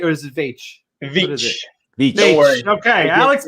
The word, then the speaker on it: Veitch: Please help us in welcoming Alex Veitch. Hey guys. Did I pronounce it right, or is it Veitch? Veitch. Veitch. Don't worry. Okay, Alex Veitch.